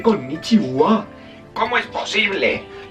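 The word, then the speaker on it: こんにちは: Si habéis estudiado bien el giriragana, sabréis que esto es ja en japonés. Esto es el giriragana. Ja. Entonces, yo acabo de escribir con niija, pero se dice con nichiua.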